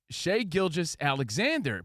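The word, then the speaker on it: Shai Gilgeous-Alexander: Is it Shea? Is it Shai? Is it Gilgis? What's up, Gilgis? It's Shea Gilgis Alexander.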